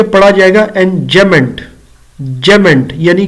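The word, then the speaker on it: enjambment: एम बी एम इ एन T basically B silent है तो ये पढ़ा जाएगा एनमेंट जमेंट यानी कि डबल एम इकट्ठा पढ़ा जाएगा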